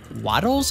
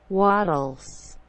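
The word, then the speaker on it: Wattles: Let me take another page out of the book of the video, which was by Waddles, I think his name would be pronounced. W-A-T-T-L-E-S. Waddles.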